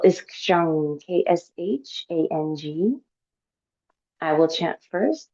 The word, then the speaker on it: kshang: The seed syllable is kshang, K-S-H-A-N-G.